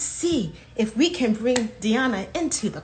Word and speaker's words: Diana: So my name is, it's in Spanish, so it's Diana, but I'm very used to having it say that Diana is fine.